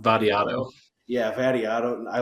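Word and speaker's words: Vattiato: Vadiato.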